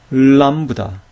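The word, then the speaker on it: λάμβδα: 주해서 볼 필요가 있는데요 람다는 앞에 모음이 올 때 그 모음에 받침 역할을 하면서 동시에 그다음 음절에 초 칼도 하게 돼요 그러니까이 람다를 천천히 발음하게 되면 이런 식의 소리가 나게 되는 것이죠 람브다 람브다 자 따라해 보세요 람브다 람브다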